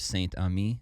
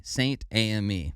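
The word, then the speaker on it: Saint-Amé: But Saint-Ami, I think, is how you say it. I don't know. Ames? Is it Ames? No S at the end. Okay. Saint-Ami. I don't know. AME. Saint-AME. There you go.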